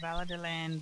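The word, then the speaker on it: Valadilène: She's a local, and she pronounced Veladilan, Veladilan.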